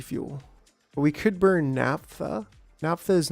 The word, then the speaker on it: naphtha: Naphtha, right? Well, I mean, it's NaPHTHA. So it is like an F and then a TH.